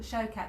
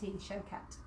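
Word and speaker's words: Shaukat: So have a look at Showcat. That's spelled S-H-A-U-K-A-T, Showcat.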